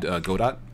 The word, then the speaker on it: Godot: I would highly recommend Godot.